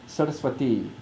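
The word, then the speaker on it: Sarasvatī: So Saraswati is how we pronounce her name.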